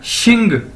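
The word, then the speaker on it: 姓: नीचे हमारे पास XIN, एक्स को मैंने बताया था पिछली वीडियोस के अंदर भी कि इसको हम शीन से प्रोनाउंस करेंगे, यानी एक्स शीन बोला जाता है चाइनीज के अंदर, तो यानी XIN शिन। अगर इसके साथ हम जी लगा देंगे तो ये क्या बन जाएगा शिंग, XING शिंग।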